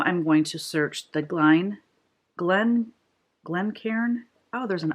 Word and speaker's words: Glencairn: Oh, I was saying Glencame because the R and the M, seriously, if you can see that right there, the R and the N make it look like an M. So I was saying it wrong. If you look at the front, it's Glencairn glass.